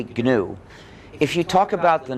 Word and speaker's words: GNU: But when it's the name of our operating system, please disregard the dictionary. Please pronounce a hard G. Say GNU.